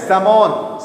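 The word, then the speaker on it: salmon: की प्रजाति होती है इसको क्या बोलते हैं समाज समाज क्या बोलते हैं समाज एम समाज ल साइलेंट होता है ठीक है बेटा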